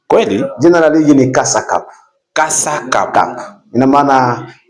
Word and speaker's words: Kasa Cup: daraja la kwanza ni kasa cupu kwa hiyo tukikuwa tunatamka tutamke kwa matamshi jinsi ilivyotamkwa kasa cup tusiongeze mambo mengine. tukiongeza mambo mengine tunaharibu lakini naimani kwamba wanasoka